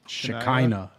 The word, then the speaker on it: Shekinah: um feminine names of God we have is Shekinah which is very hard to say so in English it's like Shekinah s-h-e-k-i-n-a-h you'll see it written that way in